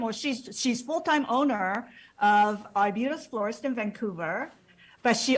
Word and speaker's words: Arbutus: Is that how correct pronunciation? It's Arbutus Florist.